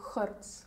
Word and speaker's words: Goertz: Hon säger Goertz. Goertz. Det är nederländsk. Ja. Så det är oftast Goertz.